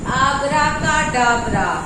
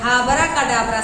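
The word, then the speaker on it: abracadabra: तो आब्राकाडाब्रा में कई लोग H से करते हैं, हाबराकाडाब्रा समझते हैं। तो हाबराकाडाब्रा नहीं, हाबराकाडाब्रा अगर समझेंगे तो H दिमाग में बनेगा।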